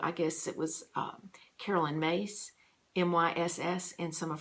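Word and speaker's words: Myss: guess it was Caroline mace my SS and some of her work as Caroline spelled Caroline she pronounces it Caroline mace my SS talked about the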